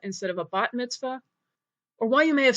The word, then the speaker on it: bat mitzvah: heard your parents or grandparents talk about a BAS Mitzvah instead of a bat mitzvah or why you may have seen a th